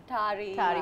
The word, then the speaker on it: Tarja: Why do people call you Tarja? Because it's spelled with a J. Yeah. Yes. What are the other names you have been called? Tari. We call it Tari. Those are fine. But Tarja is the most common.